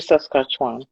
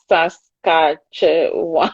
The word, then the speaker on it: Saskatchewan: what would you say it used to be saskatchewan uh because they they just take everyone is